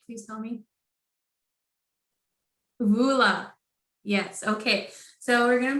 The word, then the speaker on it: Voula: Please correct me if I'm pronouncing your name right. Please tell me. Vola.